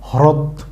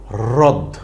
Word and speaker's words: হ্রদ: হচ্ছে কি রদ তো এই রদ বানান পড়তে গিয়ে যদি আমরা সঠিকভাবে হ র ফলান উচ্চারণ না করি তখন আমরা কি বলবো হ্রদ কিন্তু যেটা হবে ভুল তাইলে আমরা হ রফলা দ এই শব্দটাকে কি পড়বো রদ রদ ওকে ফ্রেন্ডস আশা করি